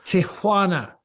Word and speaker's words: Tijuana: I'm moving to Tijuana. And in fact, it's not Tijuana, it's Tijuana. There you go. Because I respect the culture. If you're going to say the word, it's got to be said properly.